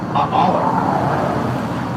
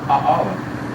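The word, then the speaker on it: Aʻala: It's pronounced A'ala. You pronounce all the vowels, A'ala.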